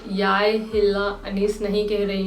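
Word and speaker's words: jeg: आई, आई को कहा जाता है याय, याय, याय।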